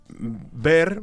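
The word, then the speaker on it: vair: Porque piel de ardilla se dice mm ver, se escribe bair, ¿vale? Pero se dice ver y Perold eh lo malinterpretó como ver berre que es vidrio, ¿sabes?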